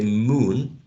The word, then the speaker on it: moon: and tense moon but when we say look we're actually using this um short and legs sound right look look moon moon very well done thank